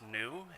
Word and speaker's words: NEU: off it is pronounced new and it is a uh word play on carbon neutrality so it's not an acronym but it is one